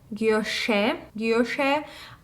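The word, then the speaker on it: guilloché: So basically, this is the vintage Alhambra 5 motifs, a bracelet in yellow gold, and I think the way you pronounce it is guilloche.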